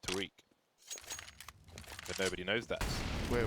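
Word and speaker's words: Tarik: Just like Tarek's name is actually pronounced Tariq.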